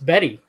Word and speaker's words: Bette: is it bette davis it's spelled like bet but it's betty they say betty oh they say betty